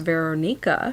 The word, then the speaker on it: Veronika: I learned that Veronika Volkova is actually pronounced Veronica, so there's that.